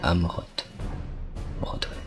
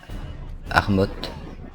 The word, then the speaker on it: Amroth: Tom Amroth. À chaque fois je prononce Armoth, sauf que c'est Amroth.